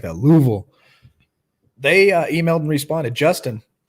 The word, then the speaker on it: Louisville: okay you got to say it like that Louisville they emailed and responded Justin he reached out